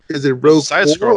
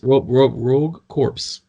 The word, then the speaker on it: Rogue Corps: Rogue Corpse. Like the core. Corpse. CORPS. Corpse. So you didn't pronounce it right again, Fire, didn't you? There's a P. The P is silent. It's a French word. Core.